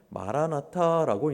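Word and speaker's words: Maranatha: 실제로 여러분 초대교회의 성도들은요 뭐라고 성도들끼리 인사했냐면 마라나타라고 인사했어요. 마라나타, 마라, 주, 아타 합쳐서 마라나타로 발음하죠.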